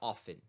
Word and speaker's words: often: Mas o often, você não pronuncia o T, beleza? Se pronunciar não é o fim do mundo, vai ser compreendido e nem chega a estar errado, mas muito mais comum você falar often, tá?